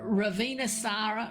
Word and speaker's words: Ravintsara: Um in in Madagascar um in their language um it's broken down to rava um which means leaf and then sara so the t is silent s means good or beautiful. So, raisara, ravenous is often um